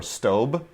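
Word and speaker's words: Staub: I we we we we use St or stob depending on how you pronounce it St u b which is uh better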